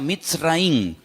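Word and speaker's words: מצרים: país de Egipto que en la Biblia se pronuncia mitz raí se escribe al principio con una letra men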